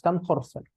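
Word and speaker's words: Tamm-Horsfall: Para hablar así, para hablar así, como normalmente lo pronunciamos, TAM Horsfall.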